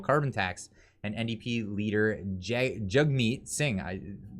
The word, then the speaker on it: Jagmeet: And NDP leader Jagmeet Singh, it's pronounced Jugmeet, but it's with an A.